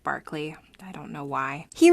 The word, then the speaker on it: Berkeley: governor governor william barkley spelled berkeley but pronounced barkley i don't know why